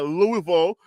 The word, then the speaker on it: Louisville: State Louisville uh Louisville let me say the right say it right way the way they like to say it Louisville Marilyn pit Temple and